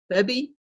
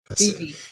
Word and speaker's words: Beebe: And welcome, I want to say, is it AC Bebby? Is that how you pronounce the last name? And BB. Beebe. He's interim assistant chief Beebe.